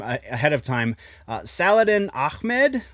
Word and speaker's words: Saladin Ahmed: It seems that writer, I'm really sorry for mispronouncing this name ahead of time, Saladin Ahmed, I believe is how you would say that. The guy who's writing Miles